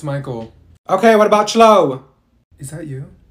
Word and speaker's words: Michael: did she say you mean Beatrice thank you Mikhail ma'am it's Michael okay what about slow is that you no